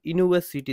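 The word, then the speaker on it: university: She studied at ইউনিভার্সিটি দেখো, ইউনিভার্সিটি ইউ কি, your উচ্চারণ ইউ এইভাবে হয়, ঠিক আছে? ইউ মানে কি, কনসোনেন্টের মতো উচ্চারণ, তাই এটার আনসার এ হবে। বাট ইউ তো অ্যাকচুয়ালি ভাওয়েল, অ্যাকচুয়ালি ইউ যেটা আছে ওয়ার্ড, এটা ভাওয়েল, অনেকে অ্যান করে দেবে, কিন্তু অ্যাকচুয়ালি না, এটা কনসোনেন্টের মতো সাউন্ড হয় ইউ, ওয়াই ও ইউ,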